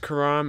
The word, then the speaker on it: Khurram: that easy to decipher that that's pronounced Quran if you don't speak Arabic but that's what it